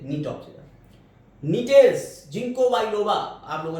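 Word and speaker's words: Gnetopsida: ये जी को जी नहीं पढ़ेंगे। साइलेंट रहता है नी से नीटोक्सिडा।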